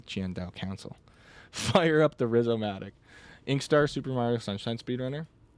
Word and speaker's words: Rizzomatic: Fire up the Rizzomatic. Inkstar Super Mario Sunshine speedrunner. It's pronounced uh with a long I like a risomatic.